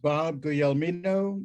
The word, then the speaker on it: Bob Guglielmino: try to really get this down it's it's pronounced bob the elmino but i have been called everything in the